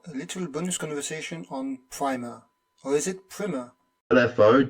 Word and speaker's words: Primer: And yeah, the film is pronounced Primer and not Primer. So Primer is in like a first lesson on something. I guess we can call it Primer if you want, but the word in the English language is Primer. This doesn't need to be in the episode. I just wanted to tell you so it's pronounced Primer, not Primer.